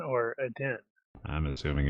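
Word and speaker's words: Aden: like the airport works I guess the stress on the first syllable it's add-in you so yes we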